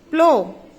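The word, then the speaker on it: plough: प्लो, GH is silent.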